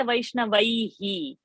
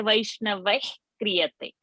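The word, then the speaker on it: वैष्णवैः क्रियते: So we don't say Vaishnavaihi. We say Vaishnavai kriyate.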